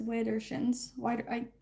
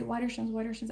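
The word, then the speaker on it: widdershins: Then we have Widershins, and she pronounces as Widershins. I say Widershins.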